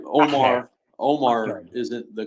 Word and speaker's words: Omar: parents is kind of like more like Omar like more of like a you than an O but mostly just Omar that's kind of my